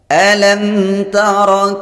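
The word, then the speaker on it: أَلَمْ تَرَ: Perhatikan di sini ada mim sukun bertemu dengan selain huruf mim dan ba, maka disebut dengan bacaan izhar syafawi. Membacanya dibaca terang, bunyi mimnya dibaca terang dan tidak boleh mendengung.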